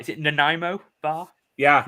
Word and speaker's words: Nanaimo: I never pronounce this right. Is it Nanaimo bar? Yeah, Nanaimo bar.